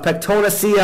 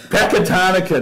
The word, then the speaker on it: Pecatonica: You're talking about the guy at Pectonacia Argyle? Pectonacia. Is that how you say it? Pecatonica. Jeez. Ow! No, Pecatonica. Get out of here.